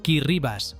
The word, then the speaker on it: Kiribati: Kiribati, pronunciado Kirribas, porque en la lengua gilbertesa la combinación ti suena como ese Kiribati es un país